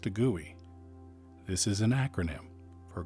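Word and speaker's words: GUI: pel Arts the letters g u i is pronounced to gooy this is an acronym for graphic user interface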